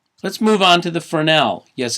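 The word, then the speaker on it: Fresnel: move on to the fernell yes it's pronounced furnell but look at the spelling it's spelled fres anyell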